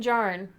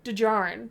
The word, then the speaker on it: Djarin: Wait, I didn't pronounce it correctly for you. Djarin. Yes, that's how you pronounce it. That's why I got confused. I was Djarin. forgetting about the D that you always like to... The D sound is there.